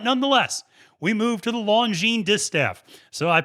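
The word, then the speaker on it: Longines: the launch uh the longine i always say longerness because i used to intentionally mispronounce it to make fun of it and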